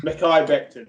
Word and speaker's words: Mekhi Becton: I cannot pronounce it. Mekhi Becton.